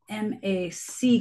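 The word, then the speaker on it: Mack: a turtle named Mac although look this one is spelled m a c k but still Mac just a part of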